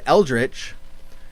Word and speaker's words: eldritch: Not only does the word eldritch have a combination of letters that slow us down because they're difficult to pronounce quickly, but it's also a double stress.